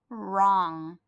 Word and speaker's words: wrong: the word write and I know the W is silent so let's use use that R sound wrong what is the silent